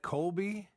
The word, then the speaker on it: Colby: I think that's pronounced, is that Colby? Yes, it is.